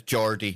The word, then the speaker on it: Geordie: Yes, it's Geordie. It's Geordie. Yes, you know, somebody that went to college with him actually contacted me to let me know that.